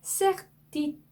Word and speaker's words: certitude: 네, triste, triste 이렇게 발음하셔야 되고요. certitude, certitude 이렇게 발음하셔야 되는데요.